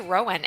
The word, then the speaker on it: Rowan: And over to you, Rowan. Am I pronouncing your name correctly?